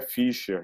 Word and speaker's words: Fischer: Na realidade, a pronúncia é Fischer, né, que tem o treminha, então não se preocupe, Fischer. todo mundo erra, né, então não se preocupe com isso.